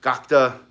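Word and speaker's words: Gatka: The Gurkhas have Gakta, or Gakta, I think that's how they pronounce it.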